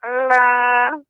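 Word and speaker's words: أعلى: Ya, Sabbihisma rabbikal a'la. a'la. Alif dulu Ibu Nek. Alif ya hamzah baru ain. A'la, a'la. Demikian. Sabbihisma rabbikal a'la. Ya, ainnya lebih lembut lagi Ibu.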